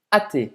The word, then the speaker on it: athée: Ou seja, de novo, o H é mudo. Je suis athée. Você pode fazer a ligação.